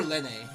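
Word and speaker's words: Lene: Is it lean or len? Because unfortunately like l e n e I pronounce as lean. Len doesn't even sound correct either.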